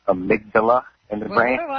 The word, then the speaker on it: amygdala: I know she's a nurse, but it's pronounced amygdala in the brain.